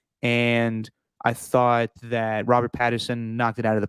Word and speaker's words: Pattinson: And I thought that Robert Pattinson knocked it out of the park. Is it Patterson or Pattinson? How do you say his name? Pattinson. I'm saying the T, Stephen.